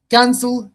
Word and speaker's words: cancel: But here say cancel. You say cancel. Yes. That's is a stressed one. The first Yeah.